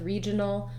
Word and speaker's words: regional: dictionary going on with regional the letter g says the j sound which we often also